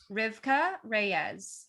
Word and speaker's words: Rivkah Reyes: about to say can just double check the pronunciation of your name rivka reyes yes i'm saying it right